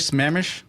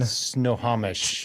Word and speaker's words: Snohomish: Have you heard of Smemish? Smamish? Washington. In Washington. Have you? Our first guest was from Smamish, Washington. Snohomish.